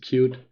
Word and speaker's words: Qt: I'm not an expert in Qt, like it's Qt, but I think you pronounce it cute in Qt UI stuff.